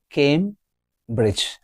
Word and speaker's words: Cambridge: It's having two syllable. It's two syllable word. Cambridge the the stress is on the first syllable Cambridge not Cambridge it's Cambridge came have